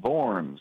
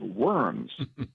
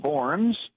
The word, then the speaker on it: Worms: up a time in forms actually a W in German is pronounced like a V but most Americans not knowing that they talk about the diet of worms I always jokingly say